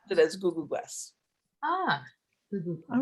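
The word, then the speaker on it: Ku'ku'kwes: And you pronounce it basically, you know, the way you pronounce my last name, Googoo, and you put Gwes at the end, so it's Googoo Gwes. Googoo Gwes.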